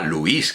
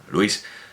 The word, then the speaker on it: Luis: como si la necesitara como si no fuera un monosílabo y como si se pronunciara Luis que no se pronuncia Luis Luis Juan Luis madre mía